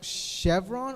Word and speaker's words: Chevron: How do you pronounce chevron? Is it C? Is it like chevron or is it chevron? Like a chef? Sha. Like chevron. Chevron.